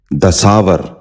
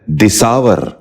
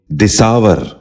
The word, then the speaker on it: دساور: غور سے سنیے، درویش۔ نواں لفظ ہے دساور۔ یہ غلط تلفظ ہے، درست تلفظ ہے دساور۔ دوبارہ سنیے، دساور۔ بچوں آپ بھی غور